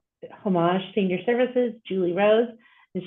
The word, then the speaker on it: Homage: And for those of you who are not familiar with Homage, saying the word homage is the most confusing thing. So we pronounce it Homage Senior Services.